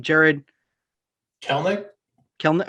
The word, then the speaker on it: Kelenic: Jarred Kelenic?